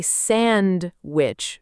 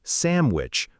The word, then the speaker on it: sandwich: People say sand which very clearly with a strong D sound. But actually, in fast, natural speech, it often softens to something closer to sandwich with a much lighter D.